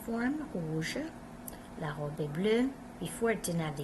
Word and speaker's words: bleue: La robe est bleue. Before it didn't have the E. Now we have the E. Le pantalon est bleu. La robe est bleue. Sounds the same.